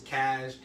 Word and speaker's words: Caj: Like, no, it's Cash, like casual. But anyways, or like cashmere, but like, not spelled like that.